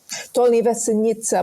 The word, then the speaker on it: Dolní Věstonice: now I say Dolní Věstonice because I'm probably pronouncing it incorrectly. How do you say it? Dolní Věstonice, but I don't know.